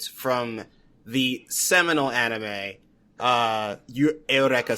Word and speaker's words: Eureka: the seminal anime uh Aorea 7. It's it's spelled Eureka 7, but it's a 7. Please trust me.